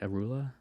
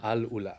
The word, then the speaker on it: Alula: Arula? Alula. Alula. Alula.